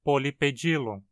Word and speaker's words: Polypedilum: Perceba também como na palavra pedilon, em grego, o i é pronunciado longo. Como consequência, na adaptação para o latim, a pronúncia precisa ser pedilum e não pedilum. Ou seja, o nome do gênero é pronunciado Polypedilum.